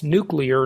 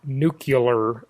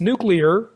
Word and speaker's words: nuclear: by the way that's nuclear not nuclear George Bush and many others who mispronounce it it's nuclear just look at the way it's spelled and my mom used